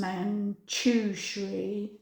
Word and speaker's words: Manjushri: So the message from Manjushri is pronounced Manjushri.